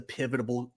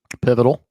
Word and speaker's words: pivotal: this might be the pivotable pivotable pivotal pivotal Thank you. pivotal game of the weekend. Yeah. Stop trying to put extra syllables in there. You don't need extra syllables.